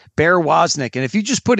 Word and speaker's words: Woznick: And I don't know his given first name, but he goes by Bear, and his last name is spelled W-O-Z-N-I-C-K. So it's just like it sounds, Bear Woznick.